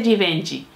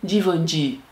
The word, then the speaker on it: Givenchy: Déjeme decirlo bien, porque hoy vi un video que decía que no se dice Givenchy, sino se dice Givenchy.